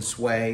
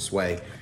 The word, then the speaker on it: swai: today today we cooking sway s however you pronounce it I'll pronounce it sway WS WS a I um today we're going